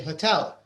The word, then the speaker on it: hotel: It's the second, actually. In English, they usually say hotel. Tell is louder than hotel.